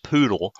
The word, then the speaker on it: PoDL: pairs or four wires of cabling whereas the podl yes it is pronounced poodle only requires a single pair which is two